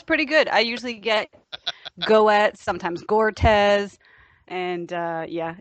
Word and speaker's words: Goetz: It's actually pronounced Goetz. So I just tell people to pretend the O is not there.